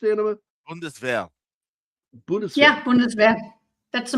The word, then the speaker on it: Bundeswehr: Is that how that's pronounced, Anima? Bundeswehr.